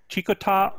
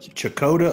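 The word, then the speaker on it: Checotah: gem of the prairie although named for samuel chicotte it's spelled c-h-e-c-o-t-e it was the misspelling of a map maker that labeled the name phonetically and the name has remained the same ever since chicota oklahoma that's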